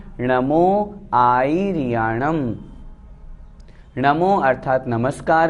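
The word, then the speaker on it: आयरियाणं: दूसरी गलती इसमें री को बड़ी भी कर देते हैं, आयर्याणं इस तरह से कर देते हैं, वो अशुद्ध हो जाता है।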